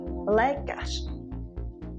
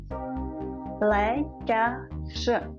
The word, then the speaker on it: lékař: Let's look at R in the end of the word, like lékař, a doctor. Lékař, lékař, lékař.